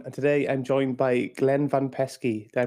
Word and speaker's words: Glenn Van Peski: your host Aaron and today I'm joined by Glenn van pesy did I pronounce that right Glenn you did it sounds